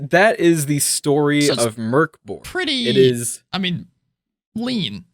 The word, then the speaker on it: Mörk Borg: It's got an umlaut, which is pronounced like Mörk Borg, and that means in Swedish dark fort.